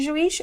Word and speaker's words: juiz: Se você separar as sílabas de juiz, o que você vai ter, ser de luz? Juiz. A palavra é juiz ou é juiz? Juiz. Ah, então a tonicidade está no is.